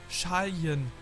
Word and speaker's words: Charlin: Das Charlin wird wie Schalien ausgesprochen.